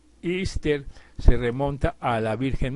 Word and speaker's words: Easter: la Pascua de resurrección y que se pronuncia ister se remonta a la